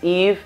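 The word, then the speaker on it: -ive: La pronunciación es eve, pero se escribe, como lo ves ahí, i-v-e.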